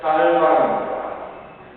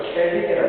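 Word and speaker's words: Calvin: 원래 이름은 깔반입니다. 근데 그걸 영어식으로 이름이 켈빈이 되죠. 음악가 쇼팡 다 알지요? 쇼팡 철자가 어떻게 쓰나요? CHOPIN 쇼펜입니다. 그 쇼팡을 쇼핀 이렇게 읽으면 됩니까? 안 되죠. 마찬가지로 켈빈이라고 읽으면 안 됩니다.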